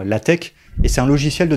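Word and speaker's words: LaTeX: fond alors ça attention ça se prononce bien l tech et c'est un logiciel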